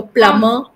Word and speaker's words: plumber: And all the MB words, remember, the B will be silent. So, plumber, dumb, thumb. And when you say dumb, dumber, not dumber. Dumber. So B is silent.